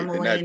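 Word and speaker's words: Montford Point: Yes, Okay, Montford.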